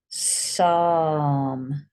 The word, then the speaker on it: psalm: Psalm. So that's how it sounds, but what goes in front of it? Got a silent P there, look.